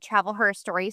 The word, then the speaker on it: Travel Her Story: Yeah, so I'm a travel blogger that has a blog called Travel Her Story. So I came up with the name because it's like history, but it's spelled with her.